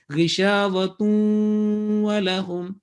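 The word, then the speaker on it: غشاوة ولهم: noon, these four letters, then assimilation, the joining will take place with gunna sound, 2-second gunna. So either you find waw with a shadda or not, doesn't matter. So right pronunciation in the continuation will be ghishavatun walahum, and the same rule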